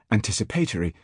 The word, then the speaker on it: anticipatory: This tendency was once strong enough to make a school master some years ago do his best to pronounce anticipatory, accentuating its first syllable.